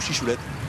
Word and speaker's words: Chichoulet: On prononce chichoulet ou chichoulette? Chichoulet plutôt, les vins de droit disent chichoulet, ne prononce pas le T enfin. Ici dans l'Hérault, puisque à 100 mètres, 150 mètres de l'autre côté de l'Aude, on prononcerait peut-être un peu plus chichoulette, on prononcerait un peu plus le T.